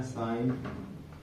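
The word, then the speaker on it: sign: इसको आप देखेंगे तो ये जो है जी साइलेंट मिलेगा, जी एन लास्ट में आ रहा है ना, है ना। अब आज इसको लिखेंगे जब हिंदी में तो इसको लिखेंगे साइन। जी जो है यहाँ पे गायब है, ठीक है।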